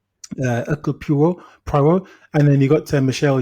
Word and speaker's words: Hercule Poirot: No, sorry, I can't say it right. Hercule Poirot. Oui. It's like a silent H in it. Hercule Poirot.